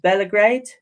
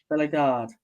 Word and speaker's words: Bellegarde: But this player here, is it Belgrade? Is that how you pronounce it? Bellegarde.